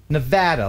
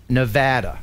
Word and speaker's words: Nevada: we got 777 superjet its Nevada long a ah as in Nevada okay good very good